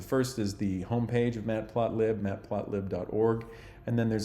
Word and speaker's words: matplotlib: project it's a library called matplot lib or Matt plot Li probably is the correct correct way to say that but I think most people say Matt plot lib this is um a